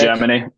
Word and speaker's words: hegemony: I mispronounce it every time. Hegemony. Is that correct? Hegemony.